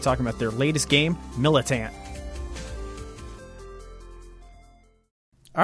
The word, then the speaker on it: MilitAnt: Yeah, just pronounce it MilitAnt.